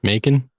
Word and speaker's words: Macon: I thought Macone, whatever the fuck his name is, Macon? Macon. Is that how you say it? Oh, it's like bacon. It's like bacon with the M. Bacon. Without the B.